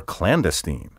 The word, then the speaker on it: clandestine: Clandestine is sometimes pronounced clandestine, clandestine, clandestine, or clandestine. You should avoid all these recent variants. The traditional and preferred pronunciation is clandestine.